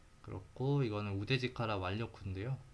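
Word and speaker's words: 腕力: 그래서 네, 그렇고 이거는 우데지카라 완료쿠인데요. 이게 우데지카라라고 읽는다네요. 완료쿠라고는 그 이학 전문 용어에서 사용하는, 일상적으로는 우데지카라라고 읽는다고 하네요.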